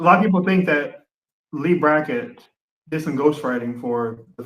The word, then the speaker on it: Leigh Brackett: Leigh Brackett? Yeah, Leigh Brackett.